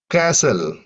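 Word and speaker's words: castle: கேசல் இதுல வந்து டி சைலண்டா இருக்கு ஆபன் ஆப்டன்னு சொல்ல மாட்டோம்.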